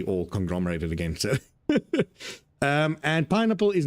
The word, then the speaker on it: pynappel: pain and apple, but but it sounds more like pineapple. Yes, pineapple, but it is spelled Pynappel.